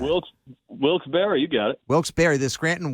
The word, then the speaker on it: Wilkes-Barre: the scranton wilkes-ba wilkes-barre barry how do you pronounce that i don't know why i don't know that well wilkes-barre you got it wilkes-barre the scranton wilkes-barre yankees a little tune-up for the weekend when